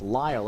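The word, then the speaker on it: Lael: Lyle or Lyle and it is in fact pronounced Lyle as one would pronounce ly le but just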